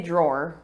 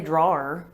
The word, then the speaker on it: drawer: my own homophones because i pronounced this word exactly how you pronounce draw as in to draw your sword i say draw did you say that yeah i don't say drawer yeah but there are